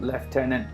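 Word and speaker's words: lieutenant: to a firefight again field leftenant tomorrow John going with the British pronunciation also Canadian the Canadian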